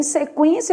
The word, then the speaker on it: sequência: pronunciado u é nulo já na palavra sequência Olha o que que tá acontecendo se quência eu tenho um dígrafo mas é o en o u é pronunciado tá Vamos separar as